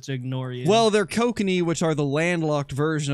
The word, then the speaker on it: kokanee: I legitimately read it as cockeye salmon the first time. Gosh. And then I heard you say it correctly, and then I just chose to ignore you. Well, they're kokanee, which are the landlocked version of sockeye salmon,